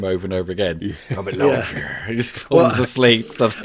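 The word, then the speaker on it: Robert Loggia: Robert Loier. He just falls asleep, doesn't he? I think I didn't even I thought I think I pronounced it Robert Logia until I I saw that.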